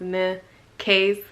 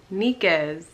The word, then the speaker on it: Nikase: So you actually say my name Nikase.